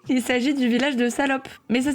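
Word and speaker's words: Salaupe: Il s'agit du village de Salope. Mais ça s'écrit pas comme comme le grand mot. Ça s'écrit Salope, S-A-L-A-U-P-E, qui est situé en Moselle.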